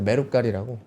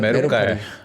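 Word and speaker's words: メルカリ: 메루갈이라고. 어 발음이 좀 그런가요? 메루카리 메루깔 메루카리 눈깔이 아니고요. 메루카리 근데 신고가 나오고 있습니다.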